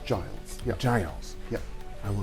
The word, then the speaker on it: Giles: Yes, it's Giles. Yeah. Giles. Yeah. I will not say Giles. In French, it's Gilles. It's Gilles. Gilles. But do you speak French? Not really, no. Okay, all right. But Giles, I want to thank you so much for